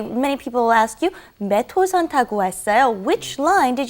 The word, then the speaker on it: 몇 호선: All right, and be careful with the pronunciation when you say 몇 호선. You want to say 몇 호선. It's kind of like it's not written that way, but that's how you want to pronounce it.